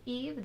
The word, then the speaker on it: Yves: That's my name, Eve, Y-V-E-S, Eve. The S is silent.